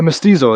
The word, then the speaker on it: mestizo: I'm how do I pronounce it? You're gonna say mestizo? Yeah, mestizo, exactly.